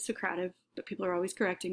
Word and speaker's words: Socrative: to this point socrative some people like to pronounce it secretive i actually like to pronounce it socrative but people are always